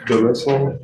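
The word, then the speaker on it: Delesaline: How do you pronounce your last name? Dallas Sline. Dallas Sline.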